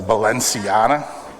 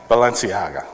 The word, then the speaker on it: Balenciaga: how to pronounce it the valenciana how is it Balenciaga okay this is like a